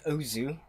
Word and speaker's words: OOO: I think it's pronounced Ozu. Yeah. But it's always spelled ooh.